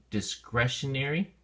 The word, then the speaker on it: discretionary: have things separated uh there's an adjective forming that's pronounced a little bit differently uh in dis discretionary here the e sound becomes soft so dis discretionary and basically um discretionary